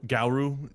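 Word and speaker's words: Garou: Gau. Like Guru G- A R O U.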